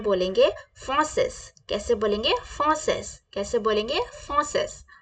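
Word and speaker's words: français: कैसे बोलेंगे okay French को फ्रेंच में बोलेंगे फॉसेस कैसे बोलेंगे फॉसेस कैसे बोलेंगे फसेस फसेस फॉसेस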